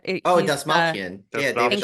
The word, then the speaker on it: Dastmalchian: Oh, He's Dastmalchian. Yeah, David Dastmalchian, yeah. Dastmalchian.